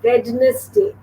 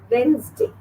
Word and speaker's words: Wednesday: The next is, it's not Wednesday. हम लोग बोलते हैं Wednesday. It's Wednesday. Wednesday. See, 2 syllables.